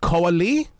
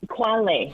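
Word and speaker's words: Khoa Le: Is it Koali? It's Quale. See? So you're pretty close.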